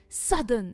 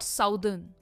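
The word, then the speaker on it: southern: यह है सद अन। सदर्न एंड नॉट साउथर्न। सदन इसमें भी आर प्रोनाउंस नहीं होता है।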